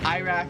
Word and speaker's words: Iraq: Here they pronounce it Iraq. Like we say I, they say Iraq.